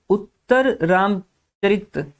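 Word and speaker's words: उत्तररामचरित: And third is उत्तर रामचरित। कैसे pronounce करना है वर्ड को, अगर आपने सीख लिया तो आपका आर्ट एंड कल्चर काफी आसान हो जाएगा।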